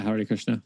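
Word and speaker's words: Hare Krishna: Christian but they found out how do I pronounce it is it Hari Krishna yeah Hari Krishna there was actually one dude that found a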